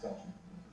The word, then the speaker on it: falchion: I just like that everyone says falchion. It's pronounced falchion.